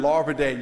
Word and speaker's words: Larvadain: Am I the only member who pronounced your name right the first time? Larvadain, yes, ma'am, you did.